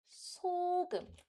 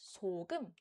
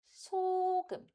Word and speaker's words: 소금: Likewise, we read this with salt as 소금. We don't read it as 소금. Then it's wrong. 소금. Always start with the high-pitched note.